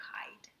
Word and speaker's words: hide: Remember, we do not read the silent E sound because that works with the vowel in the middle, okay? That changes the sound. So we don't say I-D, hide, no. We just say hide.